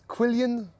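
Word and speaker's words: Quilien: Kill uh my real name is Quillian uh really French in French it's so it's right Q U I l I E N.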